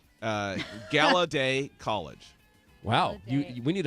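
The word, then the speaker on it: Gallaudet: so have you heard of I think it's pronounced gala day College Wow you we need a mic bot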